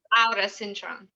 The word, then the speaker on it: Aura Cintron: It's Aura Cintron. Yeah. Much freer than the way I say it.